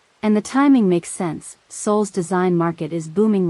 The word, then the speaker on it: Seoul: She asked, mangling the pronunciation. Seoul, Si-hun corrected gently.